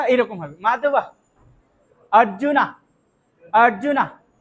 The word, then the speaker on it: অর্জুন: মাধব লিখে দিয়েছিলাম না, এটার উচ্চারণ মাধবা, মাধবা, উচ্চারণটা এরকম হবে মাধবা। অর্জুনা, অর্জুনা, কৃষ্ণা, কৃষ্ণা, অটা একটু উজ্জ্বলতর ভাবে উচ্চারণ হবে, ঠিক আছে?